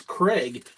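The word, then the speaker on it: Kreig: Uh mine is Craig, but it is spelled K R E I G.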